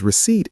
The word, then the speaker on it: receipt: This one is tricky because receipt is a hard word to pronounce. It has a silent P. It sounds like receipt.